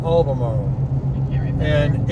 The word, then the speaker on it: Albemarle: It's pronounced Albemarle. Albemarle.